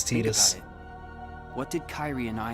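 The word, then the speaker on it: Tidus: theia Final Fantasy and they called his name tetus in that one so as far as I'm concerned his proper pronunciation of the name is tetus what did Kyrie and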